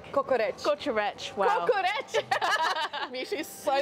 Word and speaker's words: kokoreç: The kokorek. Is it kokorek? Kokoreç. Kokoreç. Wow. Kokoreç. Misha's so bad with her pronunciation when it comes to foreign words.